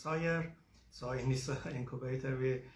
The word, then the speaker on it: SIRE: I'm the founder of Synovate Incubator of Research and Entrepreneurship, which is pronounced SIRE.